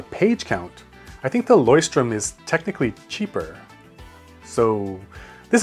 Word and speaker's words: Leuchtturm: I was told the anglicized way to pronounce it properly, are you ready, is Leuchtturm. But going back on track, this A6 size is nice and compact for everyday carry.